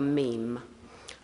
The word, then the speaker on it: meme: And he called this uh the meme uh to rhyme with gene and to mean it comes from the Greek for that which is imitated.